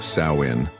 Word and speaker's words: Samhain: This was Samhain, pronounced Samhain, the festival that marked the end of the harvest and the beginning of winter.